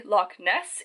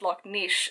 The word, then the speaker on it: Loch Ness: aprepo also fun fact it's not actually loch ness it's actually pronounced lok niche so this is mishi